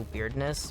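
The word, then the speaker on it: Wyrdness: However, this region has this weird sort of magic built into it called the Weirdness, W-Y-R-D-N-E-S-S, which I think is funny that it's spelled that way. And it sounds like weirdness.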